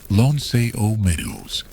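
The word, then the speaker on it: L'Anse aux Meadows: This is pronounced Lon Meadows.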